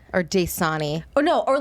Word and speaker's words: Dasani: What are you supposed to call it? Dasani. Dasani. You say it like it's a black person. Daysadi. Dayquad. What? I didn't know Daysadi was the Negro water. Oh no. Wait. Not the Negro water. Wait. Oh my. How do you say it? Sorry? It's Dasani. No, it's Dasani.